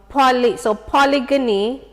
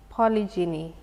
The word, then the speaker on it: polygyny: So if you had polygyny, if me can pronounce it correctly. Polygamy? No, polygyny, which is specific to you having more than one wife.